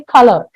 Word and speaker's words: color: color we don't use we don't stress on the word you okay we say color okay the U is not pronounced so if we take